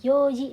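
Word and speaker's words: 四時: Nah, yoji di sini jam 4 ya. Jadi nggak pakai yon, pakainya yo. Ini juga pengecualian. Jupung.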